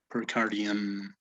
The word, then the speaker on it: pericardium: is cerrus caridian also notice the pronunciation here it is not and it is not uh you it's um okay between an o between an o and a u percardium okay great uh also